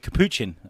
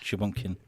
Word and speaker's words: capuchin: Capuchin. Oh, I pronounced it wrong, though. It's capuchin, not shapumpkin.